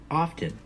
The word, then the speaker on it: often: Many Americans pronounce it just like that, often. I prefer often with a silent T, but I hear Americans every day pronounce the word often.